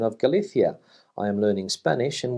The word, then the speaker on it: Galicia: for andalucia externa medulla and the canary islands pronounce galithia with a thir and the reason you hear